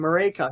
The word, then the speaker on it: Maryke: I'm still trying to get your name, Maryke.